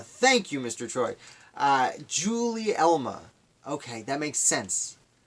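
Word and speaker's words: Gulielma: Her name is pronounced Julie Elma. Thank you, Mr. Troy. Julie Elma. Okay, that makes sense. Like the debate between Gary and Jerry.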